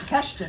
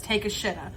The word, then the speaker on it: Takeshita: Because Don Callis has Takeshita now. Thank you. All I can think of is because of MJF. All I can think of when I want to say his name is Take a Shitta.